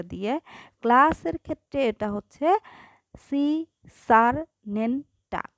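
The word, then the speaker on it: Secernentea: ক্লাসের ক্ষেত্রে এটা হচ্ছে সি সার নেনটা, উচ্চারণটা ভেঙে ভেঙে করবা, বানান কখনোই ভুল হবে না।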